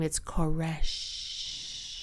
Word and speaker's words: Koresh: And he said, have you ever been with anybody when they died and took their last breath and they go, shh?